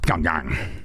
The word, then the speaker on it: Pyongyang: When you're not in Vegas and you're in Pyongyang, is that correct? Yeah, it's pronounced Pyongyang. Oh, Pyongyang.